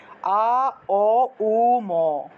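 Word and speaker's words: ওঁ: লেখা বন্দুক ঠিক আছে আ দিয়ে আরম্ভ করতে হয় অর্থাৎ মুখটা একদম বড় থেকে ছোট হয় অর্থাৎ অয়ে আরম্ভ করলে মুখটা কিন্তু ছোট হয়ে যায় অং ওম বললে মুখটা ছোট হয়ে যায় নিয়ম হলো ঔম উচ্চারণের নিয়মটা হলো গিয়ে মুখটা একদম বড় থেকে ছোট হবে সেজন্য আ দিয়ে আরম্ভ করবেন আ ও উ ম অর্থাৎ আও আও এ এইভাবে একটু টান দিয়ে একটু সময় নিয়ে বলতে হবে ঠিক আছে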